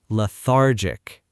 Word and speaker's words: lethargic: Say it slowly with us. Lethargic. Lethargic. Notice the stress is on the middle syllable. Lethargic. A natural sentence is, "The dark winter days make me feel so lethargic."